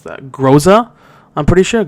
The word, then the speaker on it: Groza: It's called the how do you pronounce that? Groza? I'm pretty sure Groza, yeah.